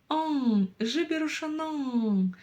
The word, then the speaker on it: жіберушінің: Произнесите обычную букву Н. Заметьте, что у вас язык упирается в верхние зубы. Н. Н. А затем пробуйте кончиком языка дотянуться до верхнего неба. И не дотягиваясь до него, произносить снова букву Н обыкновенную.